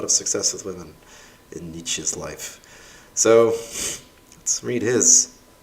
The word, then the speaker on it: Nietzsche: which is most people talk about niche a bit the spirit of pronouncing it wrong which is really the way his name is spelled although nietzsche is one of the